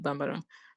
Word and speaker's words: Bambara: am I pronouncing it properly? Bambara? Like, how do you spell that? Yes. Yes. Bambara. Okay, Bambara.